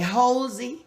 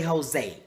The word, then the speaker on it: Hosea: Some people say Hosea, Hosea, but I say Jose.